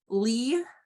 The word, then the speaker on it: Leah: mckenzie's our intake coordinator lee so her name is spelled leah but it's pronounced lee is our child psych